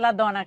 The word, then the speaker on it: Ladonna: Her name is Ladonna. I pronounce it Ladonna because my dad's Sicilian.